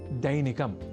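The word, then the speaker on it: दैनिकम्: अब वाक्यगत अभ्यासार्थ अगला शब्द है दैनिकम जहां ऐ इस अक्षर का प्रयोग है। तो हम दैनिकम जैसे अशुद्ध उच्चारण ना करें।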